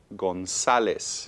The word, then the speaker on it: González: González. González. Okay. González. Y estas son 3 sílabas.